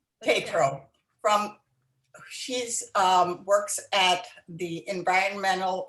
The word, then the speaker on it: Tatro: Is that how you pronounce it? Good. Tatro. Tatro.